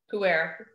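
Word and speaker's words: pu-erh: It's, for those who don't, P-U-E-R-H, and it's pronounced puer.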